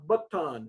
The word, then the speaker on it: baton: A baton is the way it's actually pronounced, but you get this idea.